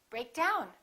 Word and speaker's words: break down: With phrasal verbs, we stress the second element, which is usually a preposition. So we say, pick up. Break down, we say, break down, emphasizing the second element.